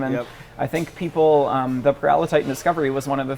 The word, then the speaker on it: Paralititan: And so you name it's Peril of Titan. Yeah. Well, we pronounce it Paralititan.